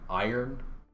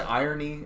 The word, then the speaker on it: iron: say i iron so some people say irony and it's not wrong but yeah I would say iron don't dump it as the oh and I ever that's wrong okay irony yep iron iron and irony iron iron sure yeah